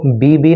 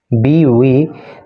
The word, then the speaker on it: BV: BV, देखो इसके pronunciation पे आप ध्यान देना, इसको BB नहीं बोल सकते, इसको बोलेंगे B, इसको बोलेंगे V, BV नागरत्ना।